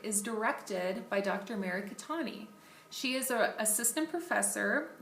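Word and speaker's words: Khetani: Her email is Mary, M-A-R-Y, .Catani, which is spelled K-H-E-T-A-N-I, at colostate, colostate.edu.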